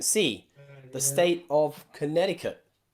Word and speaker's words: Connecticut: sea the state of connecticut connecticut okay in there we don't pronounce or at least americans definitely don't pronounce that letter c they don't say connecticut